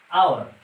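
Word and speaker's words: hour: दूसरा एग्जाम्पल है आवर, इसको हम हावर नहीं पढ़ते हैं, एच ये साइलेंट में है। साइलेंट का मतलब ये होगा कि इसकी आवाज़ नहीं निकल रही है, तो इसको हम पढ़ेंगे आवर।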